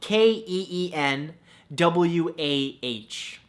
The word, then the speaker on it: quinoa: beautiful thing number two quinoa spelled ke en wuah no that's not how it's spelt at all but it should right